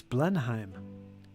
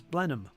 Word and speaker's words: Blenheim: Germanic if we blend Blenheim is an interesting term it's with the Germanic influence it's Blenheim but it's Anglo version is blenham and that's what it's